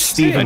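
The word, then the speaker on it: Stephen: This one was Steven with chicken. A PH, pronounced Steven.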